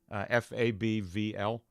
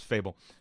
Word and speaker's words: Fable: to channel Fable here f a bvl i was pronouncing it fabvl for so long or like Fab full no it's Fable um but he did